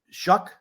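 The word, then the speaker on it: Shough: Is it how do you pronounce the guy's name? Shuck.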